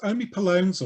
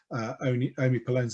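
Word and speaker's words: omipalone: Omipolones, or HPs, although it's spelt with an O, omipolones were gay men.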